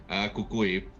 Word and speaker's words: El Cucuy: This like shy, like kind of awkward El Cucuy, am I saying it right? Kukui. Coco also works too.